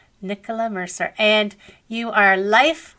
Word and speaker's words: Nicola: it's fine I know in America it's usually pronounced Nia but yeah Nicola Nicola Mercer and you are life now coaching and